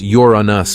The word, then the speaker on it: Uranus: For the record, NASA says it's actually pronounced Uranus, but no word on how many NASA scientists even say it that way.